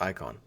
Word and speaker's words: Icahn: is I a hn it's pronounced icon um I was reading